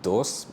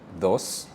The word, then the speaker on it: dos: D sound right so it's not dos but it's rather it's almost like t-h-o-s right so those tres tres cuatro cuatro